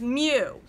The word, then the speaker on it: mu: mean is greek symbol mu if it's anything it's a u with a little tail on the left it is pronounced with the m sound but i find a